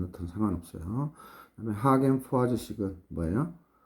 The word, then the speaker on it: Poiseuille: 원래 우리가 패닝식하고 하겐 포화지식 또는 뭐 하계 포위제 올레쉽 독일식 발음해도 되는데 포화지가 프랑스 사람이니까 하겐 포화지식으로 할게요 사람 이름 그렇게 이름상